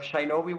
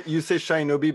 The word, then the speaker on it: Shinobi: So Oh, by Mick, the way, you say Shinobi, but it's Shinobi. So I think you have a problem with the E and I.